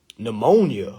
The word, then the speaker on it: pneumonia: And then I remember the first time I seen the word pneumonia. Oh, my goodness. I just knew pneumonia started with an N. That thing started with a P.